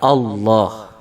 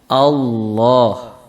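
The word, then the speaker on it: الله: Untuk lam yang dibaca tebal itu lam yang dibaca pada lafzul jalalah, yaitu kata-kata Allah. Ya, Allah itu cara membaca lamnya itu dengan ditebalkan suaranya.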